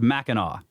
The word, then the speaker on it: Mackinac: Mackinac, or Mackinac, is pronounced Mackinac.